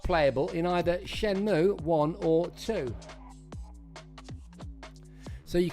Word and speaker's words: Shenmue: How to pronounce Shenmue. Shenmue.